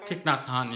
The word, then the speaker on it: Thich Nhat Hanh: I can't pronounce his name. Is it Thich Nhat Hanh? Thich Nhat Hanh, yeah.